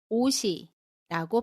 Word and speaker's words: 옷이: 반대로 옷이 예뻐요에서 옷을 보면 뒤에 모음이 오는 경우에는 디귿이 시옷 그대로 발음이 됩니다. 그래서 옷이라고 발음해요.